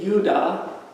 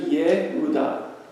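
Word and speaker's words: יהודה: You'd think it would be Yudah, but it's actually Yehudah. Because the J is the Ye, and the Uda is the Uda, Yehudah.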